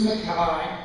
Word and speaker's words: Mackay: Andi is the daughter of Buddy and Boots Mackay.